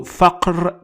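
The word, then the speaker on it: فقر: Next example is faqr. Faqr. Faqr. For this word, I used K with a little circle above it to distinguish the ka from qa, and it means poverty. So faqr means poverty.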